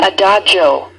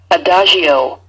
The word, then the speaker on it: adagio: Adagio or adagio. Okay, and here are the different pronunciations, and we usually in music say the second one, adagio.